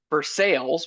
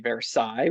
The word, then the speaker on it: Versailles: So, like, if you go out to Pittsburgh, we have Versailles, which is actually Versailles.